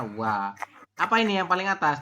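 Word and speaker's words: ㅘ: O dengan A dibaca. wo, Nah, dibacanya wa.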